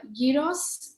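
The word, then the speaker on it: gyros: called one more time this is uh Yos it's it's spelled g y r oos and it's traditionally a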